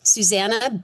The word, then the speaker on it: Susannah: And my name, Susanna B. It's spelled like how in the Bible, s u s a n n a h.